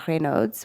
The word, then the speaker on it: Raynaud's: I think a good example of this is Raynaud's disease. Some people call it Raynaud's, which is the French pronunciation.